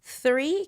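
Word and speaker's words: three: 3 can be a little bit difficult. You have to make the TH pronunciation.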